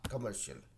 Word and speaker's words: commercial: commercial, कमर्शियल, commercial, तो ये कमर्शियल कमर्शियल बोल रहे, ठीक है।